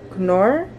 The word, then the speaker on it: Knorr: This is the knorr, that's how you say it.